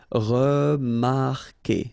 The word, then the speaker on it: remarquer: Anyway, you've got to put this vowel U, even if you don't pronounce it. Okay, so it will go like que. Okay, remarquer, remarquer. Then éviter, établir, réussir.